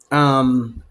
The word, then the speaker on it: Mungyo: Mungyo is actually the pronunciation.